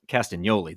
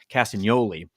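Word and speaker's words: Castagnoli: had with claudo cast castan Yoli the g is silent castan Yoli before he signed to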